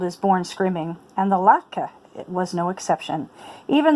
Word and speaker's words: latke: Latke.